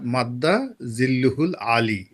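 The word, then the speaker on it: مد ظله العالي: বলেছিলেন মাদ্দা জিল্লুহুল আলী উচ্চারণটা যদি ওই সময় তার সঠিক হয়নি আরবিতে এটা হল দেখবেন যে অমুক হুজুরের নাম ধরেন হযরত আল্লামা খলিল শাহ হযরত আল্লামা খলিল শাহ মাদ্দা জিল্লুহুল আলী এ হল উচ্চারণ অর্থাৎ তার আশীর্বাদ এই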